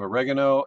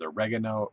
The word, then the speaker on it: oregano: yeah yeah but shot then we have oregano and that's how you say it it is oregano Oregon Oh weird weird